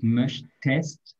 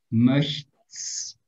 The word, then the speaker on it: möchtest: Ich möchte, eso es todavía regular, pero du möchtest, porque si agregamos aquí solamente la S, es muy difícil pronunciar esto. Möchts, sí, entonces, möchtest, du